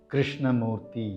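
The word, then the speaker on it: Krishnamoorthi: This is how we pronounce the name. Krishnamurthy.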